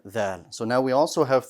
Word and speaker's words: ظ: I am going to note here though a common mispronunciation of the letter Dha. And that is, sometimes it's pronounced mistakenly as a Za.